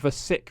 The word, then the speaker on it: Sikh: poet now another poet is uh of the sick religion seek it's pronounced sick is it fun fact for you i thought i thought it was seek it's not um i think people you think